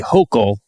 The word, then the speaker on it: Hochul: And Governor Kathy Hochul, I'm told, pronounced like yokel. Not like polycule.